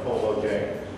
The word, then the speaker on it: Kolodziej: Ethnically, it's a Polish name, and the American pronunciation is Kolodziej, without the role.